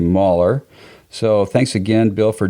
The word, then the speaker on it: Mahler: name incorrectly last name I think I said mailor it's actually merer so thanks again bill